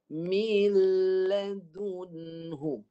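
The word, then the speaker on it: من لدنه: Cara baca dia begini. Mil. Contoh. Mil. Masuk dulu. Lepas mi, masuk dulu. Nun ni jangan sentuh. Jangan sentuh makhraj nun. Terus masuk pada lam. Sentuh makhraj lam. Mil ladunhu.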